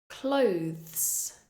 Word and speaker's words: clothes: th th threaten clothes this word has the th at the end followed by the S clothes clothes again make sure the tip of your tongue is going between your teeth there and you're blowing out F clothes depth this word